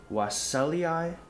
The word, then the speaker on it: wassellii: But in Botany Latin, you pronounce each vowel separately unless it's a diphthong. So for a lot of those with the double I, you do say EI. So this is another example of that.